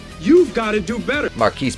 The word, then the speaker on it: Marquis: Marquise, pronounced Marcus because he's a fucking retard, but we'll just call